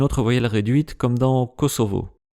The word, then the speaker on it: Kosovo: voyelle réduite comme dans Kosovo. Mais le son V n'existe pas en japonais et le plus souvent, ce mot est prononcé et écrit Kosobo.